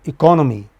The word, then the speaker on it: economy: But, economy second syllable from the beginning.